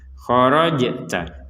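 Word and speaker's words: خرجت: sukun tidak boleh dipantulkan kalau Jim ini memang wajib dipantulkan khorajta khorjj nah seperti itu khorta fawalli ah ini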